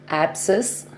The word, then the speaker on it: abscess: Okay, we'll move to the words, silent letter C words. Abscess, A-B-S-C-E-S-S, abscess.